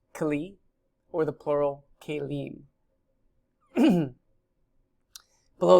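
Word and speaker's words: כלי: It can be used as a weapon, like in war, and it's pronounced kli, or the plural kelim.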